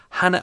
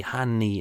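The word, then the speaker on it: Hanne: uh emmett cullen uh hannah olsen i hope that's how i pronounced it h a n n e hanny hannah hannah online it says hannah so i hope i've got that right hand there uh holly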